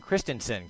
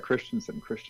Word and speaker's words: Kristensen: Kristensen, I'm going to make sure I pronounce that right. Kristensen. are you there? I'm here. You are pronouncing it right. Kristensen, yes.